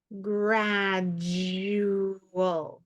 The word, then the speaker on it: gradual: an O all but if this is a muffled syllable if it's not um accented if it's unstressed and it's making the schah sound instead of all it'll sound like o o so we have grad